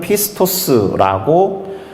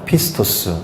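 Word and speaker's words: πιστός: 그리스어 단어는 이렇게 생겼고요 발음은 피스토스라고 읽습니다 피스토스 이게 믿음이란 단어거든요 그래서이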